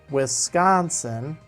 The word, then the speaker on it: Wisconsin: that you know but I call it Wisconsin and I put extra emphasis on the con and it's it's not